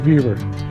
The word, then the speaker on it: Vevor: Is that how you pronounce that? Vaver. Viva. Vaver. Upside down. It's not Rover. It's Vaver.